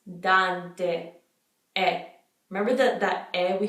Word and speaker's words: Dante: last name that much we usually just say Dante Dante it's not dawn Don CEO nasally that is Dante hey it's making like a long a style in English which that's not how it is in Italian so it's Dante and remember that and